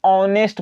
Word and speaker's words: honest: एकरा में H silent होता है, एकरा ऑनेस्ट पढ़ल जाता है।